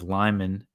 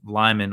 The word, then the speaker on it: Lyman: I understand lit the city of Lyman or Lehman I think it's pronounced uh was not too